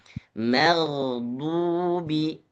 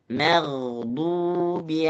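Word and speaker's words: مغضوب: dan gah ini tadi sedikit terdengar sedikit ee mannya menebal ya lebih ditipiskan lagi ma dan gho bacanya magh magdu jadi mag gho huruf tebal ma huruf tipis magdubi maghdubi alaihim kalau yang lain alhamdulillah sudah bagus boleh diulangi sekali lagi.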